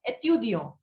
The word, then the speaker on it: étudiant: So its pronunciation is étudiant.